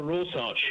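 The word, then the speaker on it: Rorschach: There's something of a rosarch that's the way to pronounce it test there.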